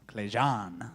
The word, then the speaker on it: CLEJAN: That's the CLEJAN. That's how you say it, just for future reference. But it's Romanian.